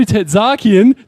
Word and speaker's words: Tertzakian: And the general manager of the Adelaide 36ers, Joe Tetakian. Did I pronounce that right, Joe?